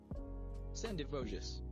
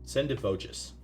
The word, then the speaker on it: Sendivogius: How to pronounce this? Sendivogius. Sendivogius.